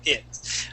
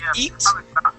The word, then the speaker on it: it: e okay instead of it all right so for example the word it okay instead of saying eat we want to say I it try that please it